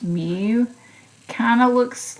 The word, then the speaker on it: mu: this symbol so this is the me it's pronounced Mew kind of looks like a cursive U but